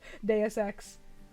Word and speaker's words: Deus Ex: Now I keep pronouncing it wrong because I fucked around too much. Deus Ex.